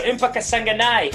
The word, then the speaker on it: Impa Kasanganay: my man okay so empaka sanganai is going to be the kind of guy that's how you say it i'm i'm certain of it i've heard i've seen him fight enough i think uh that's the way you know we're all going with it until he corrects us